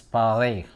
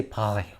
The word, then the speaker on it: Paris: And that's where I learned how to pronounce Paris. He would say Paris. I can't. You have to have a phlegm to pronounce the R. Paris. You don't pronounce the S.